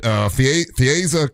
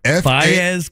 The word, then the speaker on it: Faez: You got Fieza Carr. Fieza? Is that how I say it right? Fieza? I'd have to see it. Faez Carr. Oh, Faez.